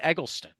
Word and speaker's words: Egleston: But, but I I I you know, even there I'm putting I mean, I guess it's three syllables. I put emphasis on the first and the third, but you know